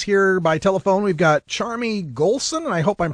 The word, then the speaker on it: Charmie Gholson: segment joining us here by telephone we've got charmy golson and i hope i'm pronouncing that right charmy you are russ thank